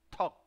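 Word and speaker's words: 턱: Esa T, o sea, no suena toc, toc es otra cosa, sino suena como si fuera, no suena como T, sino suena como si fuera T.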